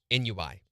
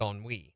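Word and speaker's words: ennui: we it's spelled e-n-n-u-i now how did you pronounce that on Wii on WE yep I've always thought it me too Nui I've always thought it was Nui but it's on Wii on WE it's French in fourth grade this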